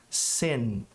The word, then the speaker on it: sin: A pronúncia de pecado ou pecar é sin, sin, 2 pontos. Primeiro, o som de I é fechado, circunflexo, E. E para você pronunciar o N em inglês, você tem que pressionar a sua língua contra o céu da boca. Sin, sin, senão não soa como N.